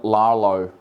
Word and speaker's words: Rlaarlo: Now, the way I've pronounced it, it may not be correct, but I've kind of silenced the R and I'm calling it Rlaarlo.